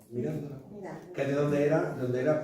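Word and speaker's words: Mirandola: ¿Cómo lo pronunciamos en italiano? Mirándola.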